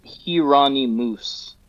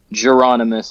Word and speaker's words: Jheronimus: Well, so the name is pronounced Hirani Moose. That's the literal pronunciation of it. But to have people say that is doesn't work. So Geronomus is kind of how I say it.